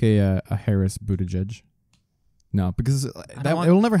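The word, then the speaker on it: Buttigieg: his name Buddha judge I thought it was Buddha leg or some no Buddha judge mayor Pete it's a easier call on that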